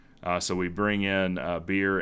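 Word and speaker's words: Birr: we bring in uh beer and or Burr Haver his name is spelled b-i-r-r and he's got a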